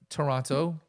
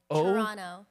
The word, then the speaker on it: Toronto: And we just got back from Toronto. Toronto. Toronto. Toronto. The last second T is silent.